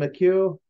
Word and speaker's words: McHugh: Roland McHugh. Is how they're pronouncing his name.